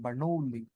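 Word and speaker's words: Bernoulli: বইয়ের ব্যাখ্যায় পেয়ে যাবা বার্নোলি এটা বার্নোলি বার্নোলি উচ্চারণটা এরকম বার্নোলি গ্যাসের গতিত্ব অনুসারে অনুগুলোর সংঘর্ষ অস্থিস্থাপক না স্থিতিস্থাপক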